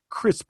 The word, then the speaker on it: Krisp: noisy, you can use an app called Crisp. It's spelled KRISP, and it helps mute